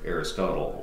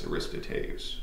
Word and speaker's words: Aristotle: And then we move on to the student of Plato by the name of Aristotle, or if you want to pronounce it actually properly, it's Aristoteles, but everybody says Aristotle.